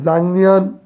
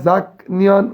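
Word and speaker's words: 작년: 1 হলো নাই বয়স, 2 হলো জাংনিয়ন, লেখা জাক নিয়ন, উচ্চারণ হবে জাং নিয়ন, এই নিয়ন থাকলে নিচের গিয়কটা অনেক সার হয়ে যায়, জাং নিয়ন গত বছর, নেনিয়ন আগামী বছর, ওয়াজে গতকাল।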